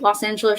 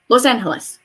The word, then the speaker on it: Los Angeles: Like Los Angeles should be Los Angeles or something. Los Angeles, something like that. You know, pronunciation rules. E's sound like A's, so Los Angeles.